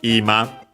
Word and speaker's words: ima: First and foremost, we have ima. Yeah, this is the one accent on the first mora, definitely considering the context.